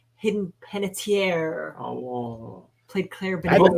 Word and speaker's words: Hayden Panettiere: Her name is pronounced Hidden Panettiere.